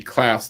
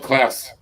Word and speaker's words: Klaus: Stop motion it's just called Klaus. Gloss. As in claws pronounced differently. It's Is that spelled, what- I think it's spelled Klaus. Oh, right. So it's like your German friend, Klaus.